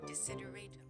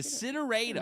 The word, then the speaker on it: desideratum: Desideratum.